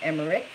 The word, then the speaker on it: Emmerich: mmm eat RI CH it looks like em er ma RIS but it's emmerich is how you say it Maria mind body